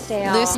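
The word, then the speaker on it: Lucedale: Now, you all are from the small town in Mississippi, Loosdale, is that right? Loosdale. You pronounced it right.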